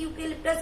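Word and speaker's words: eucalyptus: तो guys again I want to tell you here कि यहाँ पर ई साइलेंट है और यू से हमारा प्रोनाउंसिएशन उच्चारण शुरू हो रहा है, वो भी यू नहीं है, ये बन गया है वर्ण या, और वर्ण या कम्स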